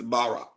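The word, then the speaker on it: ברך: word for blessed is barack b-a-r-a-k the hebrew word for create create is bara b-a-r-a pronunciations are there god only bharas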